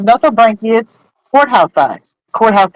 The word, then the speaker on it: Nothobranchius: And these are I'm going to mispronounce this too. No, not Notho. Aphysimian. Wait, hold on. I was right. It's Nothobranchius courthouse eye.